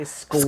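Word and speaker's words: Sequim: Yes, you say squim.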